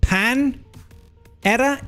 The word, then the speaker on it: Panera: But they're like, "Yeah, we don't pronounce it like the Spanish pronounce it cuz they're weird."